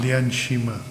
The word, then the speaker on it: Lian Shima: How to pronounce it? Lian Shima. Not very easy to pronounce, my lord. No, it will. Lian Shima. Lian Shima. Yes, my lord, that's very correct.